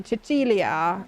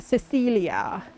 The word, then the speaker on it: Cecilia: so you know like in Italian this would be chilia not Cecilia yeah we could we